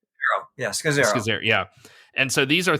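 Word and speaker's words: Scazzero: Scazzaro? Yeah, Scazzaro.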